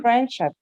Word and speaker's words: friendship: is that sound okay we omit it we delete it why because it comes in between two consonants na sound and sound so friendship friendship okay is it